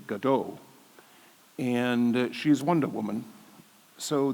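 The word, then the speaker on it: Gadot: recession so I thought maybe he doesn't mean godo maybe he means Gaydo so look up who's Gaydo and Gato is Miss Israel who pronounces her name by the way Godot and she's Wonder Woman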